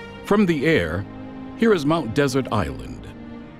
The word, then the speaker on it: Mount Desert Island: the air here is mount desert island however pronounced by the locals mount desert island this lobster claw